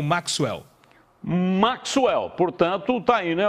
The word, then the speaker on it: Maxwell: Eu já tive essa discussão, que né, eu leio Maxwell, mas é Maxwell. Tem que fazer o Kissu ali no meio do caminho.